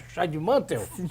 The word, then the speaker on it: Scheidemantel: Olha só, conversar com a Seckel, Scheidemantel. Scheidemantel, né? Pronuncia, ou é Scheidemantel? É Scheidemantel. Scheidemantel, né? Não, a acentuação é antes.